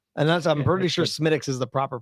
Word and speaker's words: Smithwick's: fan of this and that's i'm pretty sure smitics is the proper pronunciation uh that's life i always called smithwick's um uh i'll i'll take a beating on